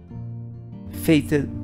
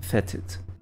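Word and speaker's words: fêted: me stop annoying me fated by you can say fated or some people pronounce fetid that means honored by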